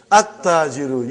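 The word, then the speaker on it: التاجر: At-tajiru. You did not pronounce lam. Why you did not pronounce? Because it is sun letter.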